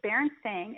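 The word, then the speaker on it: Berenstain: how the word barenstein the name baren stain is spelled so the recorded history we're living in right now says that baren stain is b e r n s t a i n like a stain like a stain now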